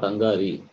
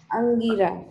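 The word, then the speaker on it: Aṅgirā: Not Angari. Read again. How to pronounce that? You read correctly only, but it is not Angari. What is the last word? Angara. Angira. Angira.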